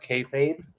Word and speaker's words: kayfabe: So just to correct you, it's pronounced kayfabe, as Okay.